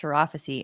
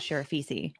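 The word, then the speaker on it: Sharafsi: just now learned that it's pronounced sharaphasie and not sheriff feces oh okay i think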